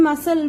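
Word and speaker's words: muscle: इन मसल which word is silent, yes, सी is silent, so circle C.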